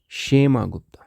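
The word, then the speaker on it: क्षेमगुप्त: शेमागप्त। इसमें के साइलेंट रहेगा शेमा गुप्ता।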